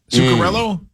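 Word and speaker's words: Zuccarello: Uh, Zukarella, Faber, and Terra. Isn't that how you say it? Zukarella nailed it.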